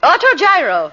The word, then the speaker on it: autogyro: How do you pronounce it, Millicent? Autogyro.